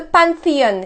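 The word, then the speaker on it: Panthéon: in English the pantheon well in French th is a T sound there's notes we can do that sound many French people have a horrible time doing th so they say this is zoo instead so the Pantheon in French has two nasal sounds the all sound the first one and then the old the third one so when we say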